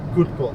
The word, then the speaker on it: Krokhol: Day one is upon us of the Krokhol Open, or Krokhol is how they say it.